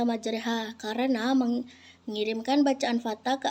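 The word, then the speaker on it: مجراها: Di antaranya jenis bacaan garib contohnya imala. Lafaznya majraha sedangkan dibaca majreha karena mengirimkan bacaan fathah ke arah kasrah atau alif ke arahnya sehingga bunyinya di antara fathah dan kasrah.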